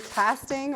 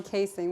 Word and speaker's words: casting: So it's either said worm casting or worm casing. We say casing, but it's spelled C-A-S-T-I-N-G, and it just means worm poop.